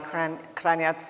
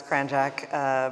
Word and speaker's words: Kranjac: And Kranjac, and we were talking about the English versus the Croatian pronunciation. In the US, it's Kranjac, but as we're in Rome, we'll go with the European pronunciation.